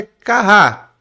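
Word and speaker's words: כה: Porque ele é como terminasse com H, então você não pronuncia ele. Então na realidade é kah, né?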